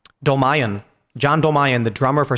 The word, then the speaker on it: Dolmayan: John, how do you pronounce his name? Dolmayan.